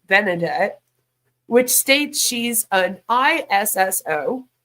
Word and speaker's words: Benedette: found for same woman good old benedet because I think that's how you pronounce that it's not bernardet it's like benedet which states she's an